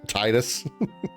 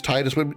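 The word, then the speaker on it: Tidus: I guess officially quote unquote it would be Tetus because any other any uh spelling of Ti do your best is always pronounced Tina Tifa.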